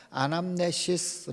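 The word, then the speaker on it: ἀνάμνησις: 성경의 원래 거는 텔러 헬라의 하게 되면 그 발음이 뭐냐면은 기념 아라가 안함 내 시스 라고 합니다 e 발음을 그대로 헬러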